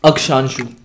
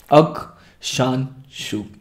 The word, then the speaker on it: अक्षांशु: प्रतीक प्रसाद ने पूछ रखा है हाउ to pronounce your name, ये चीज़ मेरे से बहुत लोग पूछते हैं क्योंकि नाम ही ऐसा है। अक्षांशु, अक्षांशु, अक्षांशु है मेरे नाम का सही प्रोनाउंसिएशन, अक्षांशु असवाल।